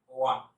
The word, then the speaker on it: won: এর উচ্চারণ অনেকে ওন করে, কিন্তু উচ্চারণ হবে ওয়ান।